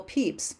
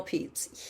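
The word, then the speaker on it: Pepys: writers to really explore that next up samuel peeps that's how you pronounce that next up samuel peeps he was a writer right after shakespeare so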